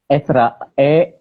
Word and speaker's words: Ezra: Ezra atau Ezra sih? Aku manggilnya Ezra nggak apa-apa ya. Esra, Esra dibacanya. Ditulisnya Ezra, dibacanya Esra. Berbacanya Ezra.